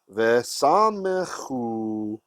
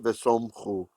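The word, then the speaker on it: וְסָמְכוּ: Vesamechu. We actually really, it's like there's a meteg here, kind of. Vesamechu. It's an open syllable. That's why it's not vesomchu. Vesamechu.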